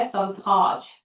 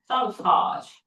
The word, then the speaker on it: sabotage: 실제로 발음할 때 어떻게 발음해야 돼? sabotage. 네, sabotage. 여기 액센트가 있어요.